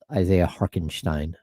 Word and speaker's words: Hartenstein: Is that how you pronounce that? Yeah, Harkenstein. No chance. Yeah. No way is it Harkenstein. Yeah. No way. You can look it up. I don't think there's a K.